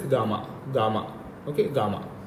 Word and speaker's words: Gamna: actually uh it is when we write spelling it is gamna okay gamna but actually normally we pronounce it as gamma gamma okay gamma it's